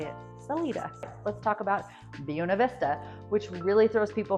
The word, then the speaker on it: Buena Vista: works really well, but the pronunciation was an early local choice to anglicize the name Buena Vista. And supposedly the town's founder, Alcina Deerheimer, actually insisted on the Buena pronunciation.